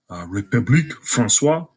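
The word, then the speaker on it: République française: Its official name is the French Republic, République Françoise.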